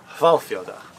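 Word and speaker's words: Hvalfjörður: Hvalfjordur.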